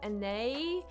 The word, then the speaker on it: Anais: My real name is Anais, spelled A-N-A-I-S. It's like a French name.